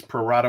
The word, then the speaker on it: pro rata: I think I said it right. Pro rata. You did say it right. Yeah, it's Latin, Ed.